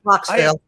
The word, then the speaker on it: Croxville: Croxville. Croxville. I have always wanted to ask you how to pronounce that, and I promise you I will